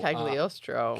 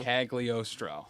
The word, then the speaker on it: Cagliostro: So very thankfully, in the most recent episode of What If, they do pronounce this name. Okay. So Cagliostro. Cagliostro.